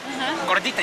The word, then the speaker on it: Gordita: Gordita. You gotta roll your R's, Q.